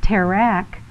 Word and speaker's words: Terah: literature tells the story Abraham's father Terah which is pronounced Tareq in Hebrew was part of an